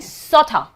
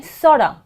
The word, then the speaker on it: sort of: I'm not saying sotta, I'm not saying sotta money or sotta house, I'm saying sorda. Why? because Americans especially Americans every time they use 't' between two vowels they pronounce this as 'd', so sort of which is AW sound and again AW sound here the sort of becomes 'd' sorda.